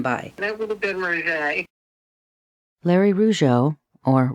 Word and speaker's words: Rougeux: I wonder why we are in the media saying Rougeux when it's really Roger.